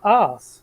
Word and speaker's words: arse: because it's pronounced arse. There's an R sound in it. It's ARSE.